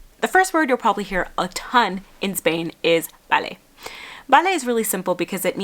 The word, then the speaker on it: vale: B's and V's in Spanish are pronounced and sound exactly the same. So if it sounds like someone is saying vale rather than vale, it's because they are.